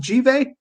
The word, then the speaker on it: Givet: Would you pronounce it Givet? Yeah, that's right.